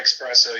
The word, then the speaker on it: espresso: Dude, if you're if you're taking an espresso, you might as well just drink a caffeine. Exactly. Mohan, you're smart enough to know that it's spelled E SS, not ex.